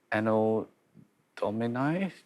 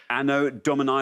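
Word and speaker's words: Anno Domini: Ano domini domin? Ano domini or domin. You could pronounce it either way. Ano dominy.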